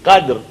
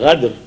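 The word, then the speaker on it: القدر: That means if it is inna anzalnahu fi laylatil qadr, and if somebody comes here and says inna anzalnahu fi laylatil ghadr, because he cannot pronounce qaf properly and he pronounced ghadr, or hay is not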